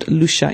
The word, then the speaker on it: Loesje: L-O-E-S-J-E. It's pronounced Loesje. In Dutch, it's Loesje.